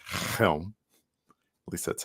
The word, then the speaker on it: Chelm: winter it's i think i believe it's actually pronounced helm at least that's how